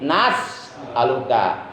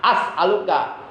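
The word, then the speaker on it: نَسْأَلُكَ: bacanya Allahumma inna as'aluka, hamzahnya ganti, itu hamzah mudora'ah, hamzah mutakalim wahdah, ganti dengan nun mal ghair. As'aluka menjadi nas'aluka. Allahumma inna nas'aluka. Jangan sampai begini, Allahumma inna as'aluka. Itu enggak nyambung.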